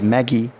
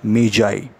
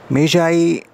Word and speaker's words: Magi: seeing this word m-a-g-i normally we pronounce it as maggie but its pronunciation is not maggie dear students the actual the right correct pronunciation of this word is meijai journey of the media meiji this word actually it